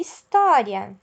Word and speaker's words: história: e herói mesma coisa e história história ou h no início da palavra seguido do ir ele representa o som né o h da vogal que ele acompanha no caso e então história hotel inicia com